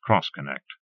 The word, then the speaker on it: X-Connect: Pronounced Cross-Connect.